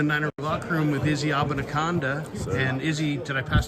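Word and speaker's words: Abanikanda: All right, we're here in the Niner locker room with Izzy Abanaconda. And Izzy, did I pass the first test? Did I pronounce Abanaconda?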